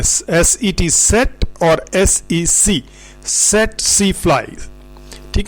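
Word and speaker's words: tsetse: सेटसी फ्लाई हमने कहा है, ये इसके स्पेलिंग TSE लिखा होता है। तो बाज़ जो स्टूडेंट है उसको CC फ्लाई भी पढ़ते हैं, कुछ टसी भी पढ़ लेते हैं, दैट्स ऑल रॉन्ग।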